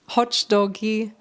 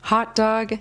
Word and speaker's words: hot dog: The mistake here is adding an extra syllable or an extra sound to the end of these words. We pronounce it more abruptly. Facebook, hot dog, face, WhatsApp.